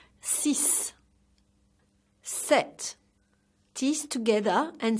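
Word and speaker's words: sept: the final sound this set tees together and say set so the P is silent one more time set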